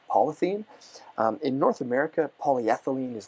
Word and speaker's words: polyethene: In fact, I think they pronounce it polyethene.